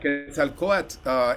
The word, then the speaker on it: Quetzalcoatl: How would you pronounce Oh yeah, that? Quetzalcoatl is a figure.